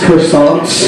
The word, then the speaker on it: croissant: They're racist croissants. It's pronounced croissant. Our baritone guitar player is so PC, she even figured out what food was racist.